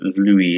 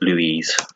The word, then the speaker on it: Louis: I assume Louis is a man, so espagnol. It's Louis, not Louise.